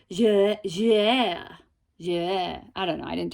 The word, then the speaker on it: Jouer: Oh, actually my husband tried to help teach me how to pronounce this. It's Jouer.